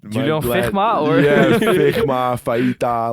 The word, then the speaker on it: Fijma: So it's a little bit different, but yeah, it's Julian Fijma. So just think about Virgil van Dijk and it will go well.